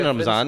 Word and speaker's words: रमज़ान: नहीं, मैं generally care नहीं करता, तो यानी कुछ भी बोल देता हूँ, जिससे डिपेंड हमारी देसी प्रोनाउंसिएशन रमज़ान है, हम रमज़ान कहते हैं।